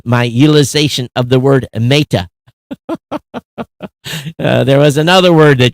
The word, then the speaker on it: Meta: Pronounced the E as in egg. Meta. Meta. I thought I'm saying meta, right? Not an A in made.